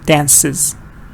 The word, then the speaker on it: dances: like teacher and teachers here it's a schwa dancers here it's short like like a little e here dances good dances the woman